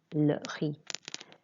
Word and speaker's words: le riz: Don't pronounce the Z at the end, just the E sound of the I. Le riz.